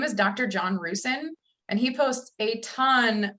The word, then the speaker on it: Rusin: John Rusin. It's Rusin.